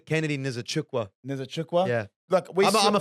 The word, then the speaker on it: Nzechukwu: Yeah, like you saw that Kennedy Nkinkwadu, I can't pronounce his name. Kennedy Nzechukwu.